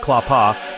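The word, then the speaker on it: klapa: Clapa singing pronounced clapa is a unique form of Croatian ac capella music recognized by UNESCO as intangible cultural heritage in 2012.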